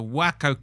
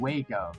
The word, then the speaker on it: Waco: Was it the Spahn Ranch, the Wacko Compound, Jonestown, or Harmony Farm?